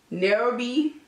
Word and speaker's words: Nairobi: So I'm taking a gold from the palette, which is titled Nairobi. Not Herbie. I'm gonna just spell it for you.